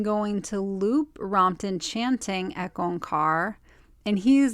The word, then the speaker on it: Ek Ong Kaar: most powerful morning chant which starts with a long e on car so the E on and car are very drawn out but it creates a